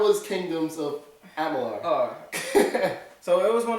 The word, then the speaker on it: Amalur: It was the Amalur part. I kept saying Alamar. I don't know why. So, how was Kingdoms of Amalur?